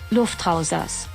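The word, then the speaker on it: Luftrausers: wrong let's just see here for a second lufthansa there we go that's how it's pronounced okay so lufthansa is a minimalistic but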